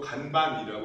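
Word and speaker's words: 看板: 그걸 일본어로 간반이라고 읽는데요. 한자를 한국식으로 읽으면 간판이 됩니다.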